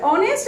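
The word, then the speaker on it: honest: Dash অনেস্ট are always respected. আমি একটু আগে বলেছি এইচ এর উচ্চারণ যখন বাংলা স্বরীয়র মতো হবে অনেস্ট, তখন তার পূর্বে অ্যান বসবে কনসোনেন্ট হওয়া সত্ত্বেও, তাহলে অবশ্যই অ্যান অনেস্ট হবে।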